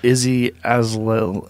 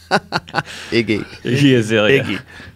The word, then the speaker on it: Iggy Azalea: Look at Izzy Azalea. How do you say your name is? Iggy. Iggy Azalea.